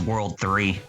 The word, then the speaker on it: WWW: Bad Gamer says the WWW is supposed to be pronounced as World 3, Oh yeah.